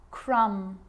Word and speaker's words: crumb: It's always silent when it follows the letter M. Climb, crumb, lamb, thumb, dumb, and plumber. So practice them with me. I'm not pronouncing the B, I'm just pronouncing the M consonant sound.